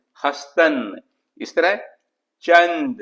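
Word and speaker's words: هستند: इस तरह से हस्तंद तो इसमें भी देखिए नून और दाल को प्रॉपरली प्रोनाउंस नहीं करे तो इसमें दाल को ड्रॉप कर दीजिए हस्तन।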